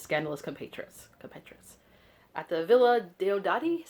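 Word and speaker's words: Villa Diodati: rumors about his scandalous compatriots competrious at the villa de odari is how you pronounce it byron's villa just outside the city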